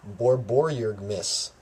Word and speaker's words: borborygmus: moving on to the fifth is borborygmis which Miss yes that's how it's pronounced I'm pretty sure double